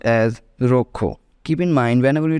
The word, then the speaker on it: rojo: number three that is J is pronounced as k h in Spanish okay read in English